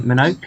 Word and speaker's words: Minogue: But you've also got Kathleen Minogue, is that how you pronounce her name?